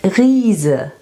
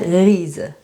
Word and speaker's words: Riese: And Riese, this is a giant. Reise and Riese.